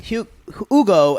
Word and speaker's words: Hugo: They made Hugo and Carlos. Don't pronounce the H. Just Hugo, y'all.